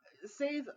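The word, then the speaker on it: seiðr: Um, Save, and if you wanted to spell it, it's SEIF, which is a curved looking D with a line through it, and then the letter R. It is anglicized as SEIDHR, because that DH is sort of the sound, that the hard the sound.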